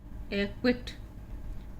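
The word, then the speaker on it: acquit: यहाँ पे जो क्यू दिया था, ये दोनों एग्जाम्पल आपके क्यू के आए हुए हैं। AQUIT, एक्विट, और ये है आपका एक्वायर।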